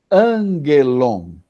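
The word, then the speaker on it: ἄγγελον: Então, sempre que você tiver dois gamas, como você tem aí, o primeiro, na pronúncia, você fala como se fosse um N, um num.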